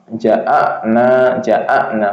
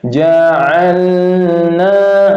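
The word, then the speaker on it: جعلنا: Jadi contohnya yang salah, inna ja'ana kalau alif ya, jadi bukan alif, huruf lam. Ja'alna, lam ya, tawasud, jangan langsung ditarik ya, tahan dulu satu harokat.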